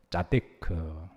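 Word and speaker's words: צדיק: 짜데크. 한번 하시도. 키읔 발음이 뒤에 조금 여운이 있는 거는 조금 더 좋은데요.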